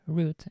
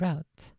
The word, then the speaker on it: route: 100 of the time the correct pronunciation of the word route in the US is both root and route which are interchangeable for both the noun and verb forms the way I had